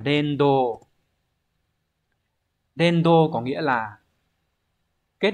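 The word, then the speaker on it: 連動: Đọc là Dendo.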